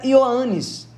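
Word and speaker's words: Ἰωάννης: é difícil pronunciar mas a fonética desse nome seria yanes se o traduzirmos para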